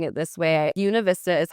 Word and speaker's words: Buena Vista: Univist Vista is how locals pronounce it.